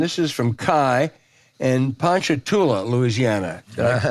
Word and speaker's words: Ponchatoula: buy you land this is from Kai and Ponchatoula Louisiana pronounce that correctly James you pronounced it exactly